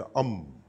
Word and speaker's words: Om: 实它正确的发音是 Om，好，是 Om，好，A U M，